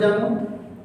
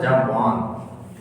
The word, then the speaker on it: जामवान: डू you know that who इज जामवंत? उनका original था जामवान, जामवान उनका नाम का जो उच्चारण है वो जामवान है, लेकिन जामवंत सब कहते हैं, तो हम भी जामवंत कहते हैं हम लोग डिजिटल वाले।